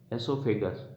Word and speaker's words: oesophagus: एसोफेगस में ओ silent रहता है, बाकी को प्रोनाउंस करते हैं अपन ESOPHAGUS, एसोफेगस।